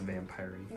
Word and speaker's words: vampirey: It's pronounced vampire-y.